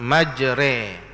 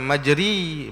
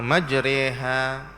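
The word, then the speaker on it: مجريها: ambil daripada guru-guru Quran bacaannya majre dia bukan majri bukan majra majre re tu cara baca jadi Itulah imalah namanya majriha bacaan riwayat kita hafaz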